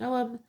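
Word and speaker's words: Ogham: It shows the symbol of the Urgam pronounced Oum or which is an early form of Irish writing, placed around concentric circles.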